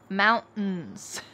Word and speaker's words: mountains: Mountains. Well, often if there is a T plus in sound at the end of a word, we drop the T and kind of swallow that sound.